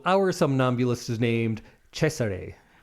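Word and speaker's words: Cesare: That I am 90% sure is how you say it, right? I used to always think Cesar Caesar or Cesar, but I believe the Germans said Chesare.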